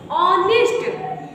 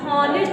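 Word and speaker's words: honest: ऑनेस्ट, ऑनेस्ट, हॉनेस्ट नहीं पढ़ोगे।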